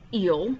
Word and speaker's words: il: was he and then it was pronounced ill because i remembered it by saying that guys were slimy like eels e-e-l-s um you're not